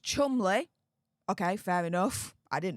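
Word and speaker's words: Cholmondeley: name he quipped um he pointed out that it's actually pronounced Chumley okay fair enough I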